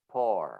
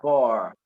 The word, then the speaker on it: pour: read this word and I would pronounce it pour, because for me it was double O, it was ooh sound. But then I started to listen to other people saying pour.